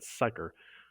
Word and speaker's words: psyker: is the immortal perpetual and psycher that's how you pronounce that p-s-y-k-e-r who serves as the